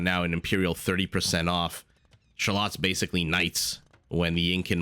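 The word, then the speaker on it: Xolotl: they can build a shallot I believe it's pronounced x-o-l-o-t-l x-o-l-o-t-l yes is the way you spell it but I believe the x is a soft shush sound and this is what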